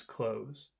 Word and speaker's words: clothes: cram their their clothes don't pronounce the th just pronounce clothes they had to cram